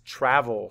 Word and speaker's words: travel: And where's our schwa? That's right, in the E. If you ever hear that ol sound at the end with the vowel, that's always a schwa.